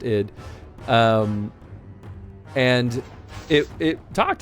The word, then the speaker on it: id Software: or or ID software I think it's supposed to be pronounced ID um and it it